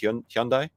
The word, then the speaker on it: Hyundai: Like they're looking for this Hyundai. Is that how you say it? Hyundai.